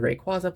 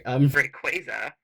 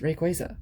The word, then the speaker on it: Rayquaza: But it is the Pokemon Center Rayquaza plush, or I'm sorry, Rayquaza, because they did confirm recently that it is pronounced Rayquaza.